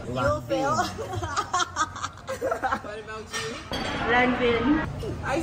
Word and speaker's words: Lanvin: It's l'envin. Longfan is a Chinese word. Not l'en. No N. We don't pronounce the N.